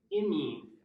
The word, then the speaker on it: amine: It's pronounced amine.